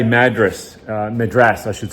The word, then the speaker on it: Madras: have said to her Madras but I'm going to get confused so and I've got it in my head that it's madas now which is a proper pronun pronunciation so I said to